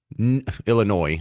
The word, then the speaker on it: Illinois: So we have the the political apparachics in Illinois, Illinois. I know the S is silent.